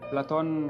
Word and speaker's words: Platon: yep oh yes platon is is actually uh how his name is pronounced so so this is